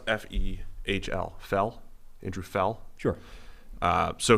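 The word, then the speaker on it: Fehl: think are important andy uh how would you pronounce f-e-h-l fell andrew fell sure uh so he he was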